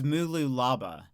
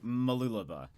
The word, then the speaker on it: Mooloolaba: the word Mooloolaba and I said it as Mooloolaba, and he was like, no. No. And then yeah. Because that's what it looks like. But then he was like, Mooloolaba. I think it's how it's said.